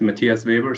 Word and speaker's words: Matthias Weber: me on the show so it's it's pronounced matthias weber so you were pretty close matthias webber beautiful okay now i